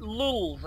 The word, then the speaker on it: lulz: I, of course, write lulz, L-U-L-Z, and you do not pronounce it lol like you normally would. It's lulz, okay, L-U-L-Z.